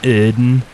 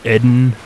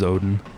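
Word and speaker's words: Oedon: have all gone mad technically it's supposed to be pronounced iden or eden or something like that but i always just refer to it as odin because it's easier to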